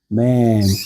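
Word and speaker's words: מם: 맨.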